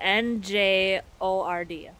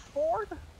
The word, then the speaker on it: Njord: N and J would be pronounced like a gnocchi. Njord. Njord is the god of wind. Is it pronounced Ford?